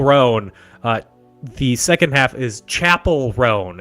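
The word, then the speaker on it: Chappell Roan: The second half is Chapel Roan. It's technically how she pronounces her name, and it's spelled without the E.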